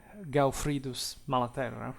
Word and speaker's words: Gaufridus Malaterra: By the way, Geoffrey, it's actually Godfrey, it's preferred to pronounce, Gaufridus Malaterra, right?